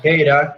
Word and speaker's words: tera: No, es tera, con T. No, o sea, Tega me refiero. Siempre lo había dicho así. No. Bueno, sí, a ver, pero no sé, quizás... Estera. Quizás una otra pronunciación de otro idioma, pero es tera en español, digamos.